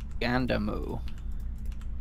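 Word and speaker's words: ガンダム: getting that wrong yeah i mean this says just gandamu yeah that's what i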